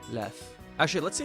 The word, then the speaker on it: lew: And I guess when it's at the end, it's an F sound. Lew. Lew.